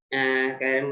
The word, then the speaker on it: chiral: According to British pronunciation, it is chiral. Okay. I think some others are pronounced this like this, chiral molecule. But the correct pronunciation, it is chiral molecules.